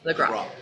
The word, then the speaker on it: LaGroppe: Say, how do you pronounce it? LaGroppe or LaGroppe? LaGroppe. Okay. I was right the first time.